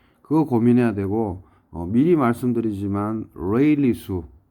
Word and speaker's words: Rayleigh: 저장조로 빠져나간다 아래와 같이 이거는 발음을 레일라 발음하면 됩니다 레일라가 아니고 레일리 레일리 넘버 즉 레일리 수와 수평